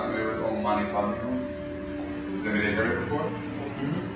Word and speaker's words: Om Mani Padme Hum: So do the Ni and feel the Ni at the top of the palate and the nose.